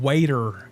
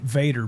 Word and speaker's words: Vader: my we all I know is that has only said Lord Waiter in one video and ever since that video is he's pronounced it Vader because he got flamed